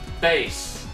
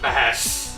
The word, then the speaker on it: Bass: is atrocious it's pronounced bass not bash it goes along with the musical name scheme like rock man roll blues which is proto man's